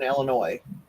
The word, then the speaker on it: Illinois: There's no noise in Illinois. That's how we were taught to remember that.